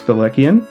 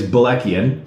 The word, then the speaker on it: Balekian: Well, the Americanized pronunciation that I say is Balekian. Okay. The correct way is Balekian.